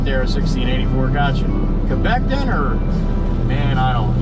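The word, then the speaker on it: Québec: I was I was trained and you know, you don't say Quebec like it's spelled here like we would say. It's Quebec. And uh I even said Quebec and they still No, no, no.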